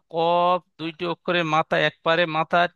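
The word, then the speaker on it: كاف: তাহলে ফা এবং কফ এর মধ্যে পার্থক্য হলো মা ফা কফ দুইটি অক্ষরের মাথা একপারে মাথা ঠিক এমন গোল মোড়া থাকবে।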